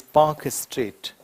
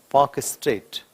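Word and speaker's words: Palk Strait: and Sri Lanka is Pak Strait. L is silent, Pak Strait.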